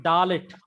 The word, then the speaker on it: Dalet: Then Dalet. D in disciple.